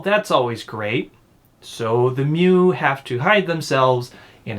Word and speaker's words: Mu: it's supposed to be well no the mu in japanese it's mew yeah it's mu because